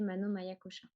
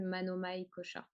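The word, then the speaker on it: Manomaya Kosha: Je prononce tous les A, mais en vérité, on peut ne pas prononcer le dernier A de Maya. Peut-être que vous avez déjà entendu Manomai Kosha, c'est possible aussi.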